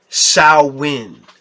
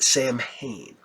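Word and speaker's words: Samhain: That being said, um, I know, you know, people that are witches and whatnot and they love the, uh, Sawin, not Sam Hayne.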